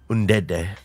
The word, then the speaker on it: Ndede: Can you pronounce that for me quickly? Ndede.